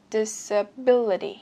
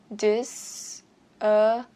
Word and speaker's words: disability: Nhưng cách phát âm này nhiều khi hơi máy móc, và người Mỹ thì thường thường người ta sẽ biến chữ T ở giữa thành chữ D để phát âm cho nó uyển chuyển và nhẹ nhàng.